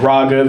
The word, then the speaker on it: Raaghav: My name is Ragav. It's pronounced ra like ramen and then gov like government. Ragav.